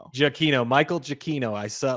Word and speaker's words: Giacchino: I found out his last name. You pronounce it Jakino. Jakino. Jakino.